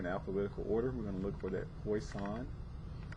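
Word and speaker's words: Poisson: to look for that poison not pronounced poison it's poison it's a French name I want to say so poison right here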